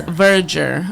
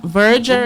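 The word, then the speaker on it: verdure: go into today is verger. Virger is spelled v e r d u r e. And it's a noun. It sounds like voyer. It kind of does sound like voyer.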